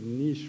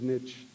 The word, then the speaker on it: niche: audience last evening, and I was reading the Niche Market Award and said niche. They corrected me afterwards for my pronunciation. So they don't care that English is my third language, so they took the time to correct me. So it is Niche Market Award.